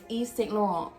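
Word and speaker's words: Yves Saint Laurent: brand new we are talking about ysl yes east laurel that's how you pronounce it um in the the original country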